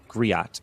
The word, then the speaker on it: griot: Um, they're called Gri Griot, excuse me. G R I O T, which is any any